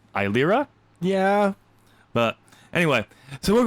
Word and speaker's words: Eilira: Yes, I know I said E. That's just how I've always said it to myself. Okay. So that's how I'm pronouncing it, even though it's Eilira.